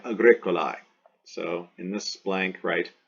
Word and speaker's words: agricolae: Agricola, agricolae, agricolae, agricolam, agricola, agricolae, AE pronounced I, agricolae.